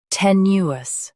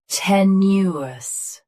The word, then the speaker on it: tenuous: Tenuous. Tenuous. Stress te. Keep new smooth, then soften us. Tenuous.